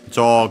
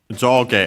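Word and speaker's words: 上: worth mentioning that yeah jo on its own top and bottom uh up and down and so on is accented on the first syllable.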